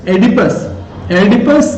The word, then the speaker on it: Oedipus: वे अपने अंदर कुछ नीचे निम्नलिखित बीमारियों को अपने अंदर विकसित कर लेते हैं, और पहली बीमारी का नाम है एडिपस कॉम्प्लेक्स, OEDIPUS, ओ साइलेंट, एडिपस कॉम्प्लेक्स।